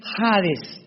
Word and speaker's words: hades: Esta versión del griego, del hebreo al griego, se tradujo la palabra seol con hades, con h que muchos dicen jades. Se puede pronunciar así porque es en el griego.